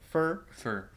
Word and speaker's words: fir: Fir.